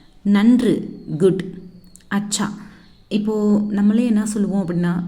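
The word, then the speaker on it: अच्छा: நன்று, குட், அச்சா.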